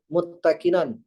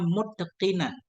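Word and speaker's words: مُتْقَنًا: san'an akan sebagaimana ciptaan muttakinan yang sempurna bil iradati wal ikhtiyari dengan iradahnya Allah Ta'ala dan ikhtiarnya Allah Ta'ala. Titik dulu Ustaz. Ngekoma dulu. Jadi ini bacanya muttaqinan. Atqana dari atqana.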